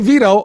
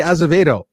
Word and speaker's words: Azevedo: Some people say Vito. I say Azevedo. Tell me what it is. Azevedo's fine. That's the way it'd be pronounced. That's the way it's done.